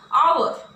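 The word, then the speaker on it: hour: come after an आवर, यच से start हुआ word but इसका जो प्रोनाउंसिएशन निकल रहा है वो क्या निकल रहा है, आवर, मतलब अ से स्टार्ट, अ से इसका जो प्रोनाउंसिएशन है वो अ से स्टार्ट हो रहा है, तो इस वजह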